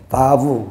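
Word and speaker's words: ו: 이렇게 요거 바브라고도 하고요. 와우라고도 하는데, 바브 히브리적인 그 발음으로 그냥 바브라고 합시다.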